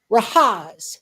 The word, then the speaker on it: Rahaz: And when he introduced himself, he says, "Rahaz, rhymes with Oz, as in the wizard of." And I went, "Okay."